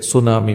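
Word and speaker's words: tsunami: एक अपरिचित शब्द मैंने वहां देखा जिसका spelling T एस यू एन ए एम आई था जिसे सुनामी पढ़ा जाता था। बाद में मुझे पता चला कि यह एक जापानी शब्द है।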